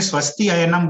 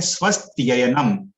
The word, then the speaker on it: स्वस्त्ययनम: तो स्वस्ति और अयनम, लेकिन अगर हम लोग श्लोक में स्वस्ति अयनम बोलेंगे तो वो सही उच्चारण नहीं रहेगा। हम लोग को एक साथ बोलना है स्वस्त्ययनम संधि करके, इदम स्वस्त्ययनम, और पुंसाम,